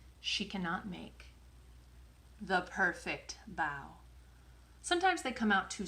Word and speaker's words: bao: as b-a-o and it's pronounced bow like take a bow not bow like wear a bow in your head amy